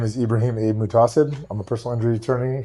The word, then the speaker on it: Muhtaseb: My name is Ibrahim Abe Mutasid.